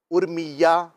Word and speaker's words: ارمیا: شرح شفا شریف کے اندر یہ لکھا ہے کہ ارمیہ میں حمزہ پر زبر, را پر جزم اور میم کے نیچے زیر ہے.